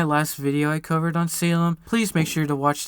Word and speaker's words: SALEM: in September oh yeah I'm actually pronouncing it as Salem now guys y'all could start